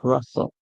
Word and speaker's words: rustle: But the T is silent when you have rustle.